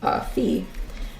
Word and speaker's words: phi: It's not called phi, man. That's depressing. It's phi. It rhymes with pi.